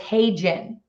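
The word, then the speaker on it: HeyGen: see how it's spelled but it's hey Jen and it's you know like hey let's generate something um there are a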